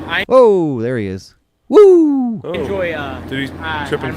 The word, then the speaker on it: Wu: But it's spelled Drago? W-U. Woo, yeah.